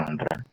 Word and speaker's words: rendre: Terus kalau rendre, ya ini bacanya rendre.